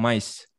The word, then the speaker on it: mice: Mice. Ya, bacanya mice.